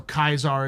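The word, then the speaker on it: Caesar: In Latin, the C's are hard K, not soft S. So Kaisar is more correct spelling than the pronunciation.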